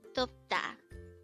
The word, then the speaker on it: 돕다: word number 281 DTA Tota this is pronounced as a two syllable word the first syllable is